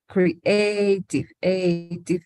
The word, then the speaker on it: creative: Los dos son de 3 sílabas, pero uno tiene el estrés en la primera sílaba, sociable. Y el segundo en la segunda sílaba, como creative.